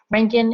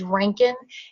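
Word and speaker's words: Röntgen: umlaut above the o i cannot do any justice to german um pronunciation it's a very throaty um throaty sound it sounds like you're trying to hack up a hairball if you said this correctly but the americanized way to say that is rankin and typically you can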